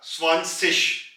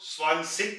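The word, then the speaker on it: zwanzig: Apply करते हैं और ये बन जाएगा स्वानसिश, स्वानसिश, यानी कि 2 की आवाज स्वान में कन्वर्ट हो जाएगी और 0 का हम सिश कह देंगे, स्वानसिश, स्वानसिश। यहां पे एक चीज का ख्याल रखें, जर्मनी में कुछ लोग इसको स्वानसिक कहते हैं, यानी कि सिक की आवाज स्वानसिक, और कुछ लोग इसको स्वानसिश कहते हैं।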